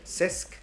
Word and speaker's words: CESC: ¿Es correcta mi pronunciación? CESC.